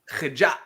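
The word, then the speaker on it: HIja': Remember for the capital H. Oh. Hitja. Hija.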